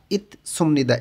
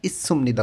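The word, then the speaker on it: 있습니다: এখানে উচ্চারণটা হবে সাংসিয়তের পরে যখন আবার শিউত চলে আসে তখন এই দুইটারই উচ্চারণ স উচ্চারণ হবে। ইস সুমনিদা, ইত সুমনিদা এরকম হবে না, ইস সুমনিদা উচ্চারণটা হবে।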